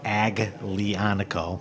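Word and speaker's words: Aglianico: is the grape Alano is the grape it's pronounced agano l i a n c o and it's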